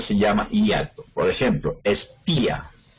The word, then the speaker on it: espía: Por ejemplo, espía. Entonces ahí el acento cae en la I, y entonces la I forma una sílaba y la A forma otra sílaba diferente.